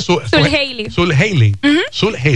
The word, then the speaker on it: Zuljeily: ¿Cómo se pronuncia? Sul Haley.